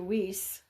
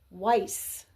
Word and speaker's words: Weiss: the hospital mhm and they're calling out for Dr whis and later you hear an EVP where the doctor corrects the pronunciation of his name Weiss yeah that was kind